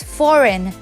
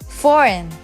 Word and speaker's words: foreign: is for Reagan foreign I'm just kidding it's foreign foreign she is silent in this word foreign one more example